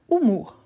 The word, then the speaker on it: humour: Ensuite, on a humour. Humour. Au numéro 8, on avait humeur. Au numéro 28, on a humour. Donc, humeur, humour. Voilà. Donc, on dit l'humour. Donc, L, apostrophe.